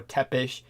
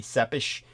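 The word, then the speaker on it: Țepeș: Yeah, the way Americans would pronounce it, they'd call him something like Vlad Tepes or Tepish. Tepes, they would say, but that's a terrible mispronunciation. The Romanian language, it would be Sepish.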